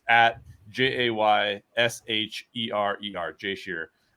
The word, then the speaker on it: Shearer: I have a Twitter account where it's at JAYSHERER, Jay Shearer. It sounds like Shearer, but it's just Shearer. You pronounce it Shearer.